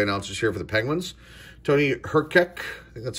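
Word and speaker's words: Tony Hrkac: pleasure to play announcers here for the Penguins Tony her kick that's how you say his name Paul MacLean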